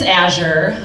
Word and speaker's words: Azure: because nobody knows how to pronounce my name. It's Azure, Azure, that is my government name.